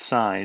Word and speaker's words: sin: sure this is clear s i n is pronounced sine in math it's a short and